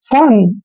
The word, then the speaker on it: fun: जब दो कॉन्सोनेंट के बीच में यू आता है तो यू का उच्चारण ए करते हैं। तो इसको पढ़ेंगे हम फन।